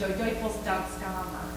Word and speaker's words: Duivels Danskamer: So in Central Hudson lore, we refer to it as Duivels Danskamer, is how you say it in Dutch, the devil's dance chamber.